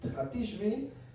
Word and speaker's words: Hatishbi: Eliyahu Hatishbi tiene una shin, entonces se pronuncia como Tishbi, ¿no?